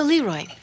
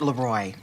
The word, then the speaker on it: Leroy: So Leroy, actually it's pronounced Leroy. It means the king in French.